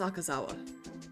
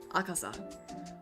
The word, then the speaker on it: Akasa: more my name is akazawa akazawa i added on an extra syllable to his name akasa my name is akasa